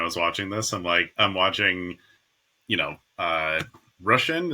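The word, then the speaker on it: Róisín: I'm watching, Rushin. Is that how you pronounce her name? Roshin, yeah. Roshin.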